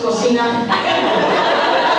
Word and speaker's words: cocina: Those of you studying Spanish think I am a kitchen. But that is pronounced cocina. Cocina is filthy pig, cocina is kitchen.